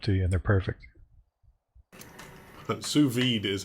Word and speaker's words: sous vide: Sous vide is how you pronounce it, apparently.